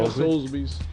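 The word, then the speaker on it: Soulsby's: Solsbys, that's how you say it, right? Yeah, Solsbys.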